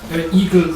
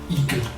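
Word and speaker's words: Igel: Eagle is German for hedgehog. Is it? Weirdly, yes. It's spelled I-G-E-L. Eagle.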